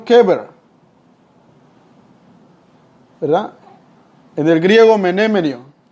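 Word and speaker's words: קבר: La palabra sepulcro en hebreo recibe la pronunciación keber, ¿verdad?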